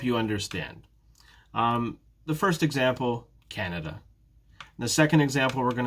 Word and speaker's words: Canada: in the word canada though which syllable is stressed in this case it's the first syllable it's canada canada ah but it's not